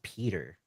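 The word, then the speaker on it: Piotr: it's actually just pronounced Peter.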